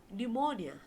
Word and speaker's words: pneumonia: the sound of s or the p in pneumonia without the sound of p word out to all